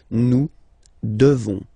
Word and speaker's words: devons: You just pronounce this on, O-N, this nasal, okay? And then the S, final S is not pronounced. Nous devons, nous devons, okay?